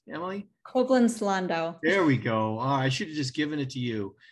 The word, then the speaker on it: Koblenz-Landau: Did I get that pronunciation correct, Emily? Koblenz-Landau.